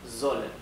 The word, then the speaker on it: sollen: Y sollen. Recuerden que en alemán la S cuando no se encuentra duplicada se pronuncia z, ¿sí? Z, como la Z del inglés, z. Así que esto no es sollen, es sollen.